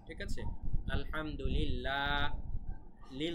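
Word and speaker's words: الحمد لله: কারণে কিন্তু এখানে উচ্চারণটা, লামের উচ্চারণ পাতলা হবে, ল এরকম হবে না, লা এরকম হবে, ঠিক আছে? আলহামদুলিল্লাহ, লিল ল হবে না, ঠিক আছে?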